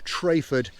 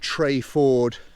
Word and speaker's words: Treyford: of the valley so i should point out that through the entire video i call the village trafford in fact locals pronounce it trey ford i should know better